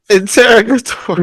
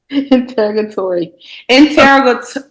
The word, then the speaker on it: interrogatory: Interrogatory question. Stop trying to pronounce both R's, okay?